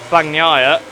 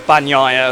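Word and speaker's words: Bagnaia: now we got past fangnair well banyara as i've been told it's pronounced as we go down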